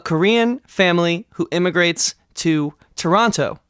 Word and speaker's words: Toronto: family who emigrates to Toronto Canada or as the locals say Toronto trust me I'm cultured